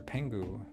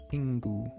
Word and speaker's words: Pingu: Pangu. Um, his name's not spelled Pangu. It's spelled Pingu. E I N Gu U. Pingu.